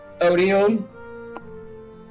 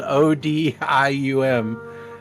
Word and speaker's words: Odium: Odium.